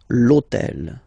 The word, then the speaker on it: hôtel: starts with H, but remember that in French we don't pronounce H, okay, so basically the first sound of the word is the vowel O, okay, so for the same reason, needs to disappear.